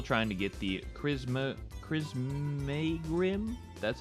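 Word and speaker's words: Crissaegrim: and I'm still trying to get the chisma Cris Grim that's how you say it some special sword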